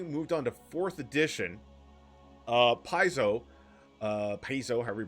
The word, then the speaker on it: Paizo: Per the Paizo FAQ. Oh. My wife coming in here. She's either going to give us a history lesson or tell us how to pronounce it. Rhymes with Pido.